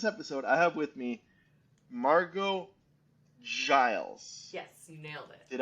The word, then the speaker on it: Margeaux Giles: So for this episode, I have with me Margeaux Giles.